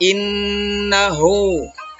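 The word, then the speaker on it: إِنَّهُ: Jadi cara membacanya dengung. Gunnah. Innahu.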